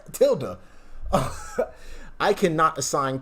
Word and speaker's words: tilde: He said tilde. I'll pronounce tilde.